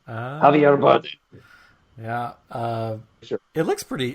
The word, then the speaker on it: Javier Bardem: Javier Bardem.